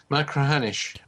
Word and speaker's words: Machrihanish: How do you pronounce it? Machrihanish.